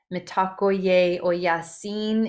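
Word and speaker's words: Mitakuye Oyasin: We use some words like mitakoyasi. Mitakoye oyasin is how it's pronounced if you really delineate each syllable.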